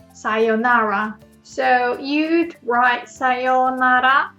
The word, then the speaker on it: さようなら: But when there is O, U sound next to each other, you'd pronounce like O. So you don't pronounce it like Sayonara, but Sayonara.